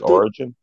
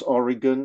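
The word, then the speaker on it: Origen: the same uh origin it's pronounced or r i g e n but you know I'm not a reference for English pronunciation so if you pronounce Oregon I don't okay I don't mind okay so it's written o r i g n yeah I think it is mostly pronounced origin yeah because you pronounce you pronounce diogen okay if you pronoun diogen probably that origin is pronounced origin yeah diogenes also I'm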